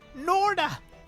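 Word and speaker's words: Gnorda: It's Norda. Oh, The G, I'm sure, is silent.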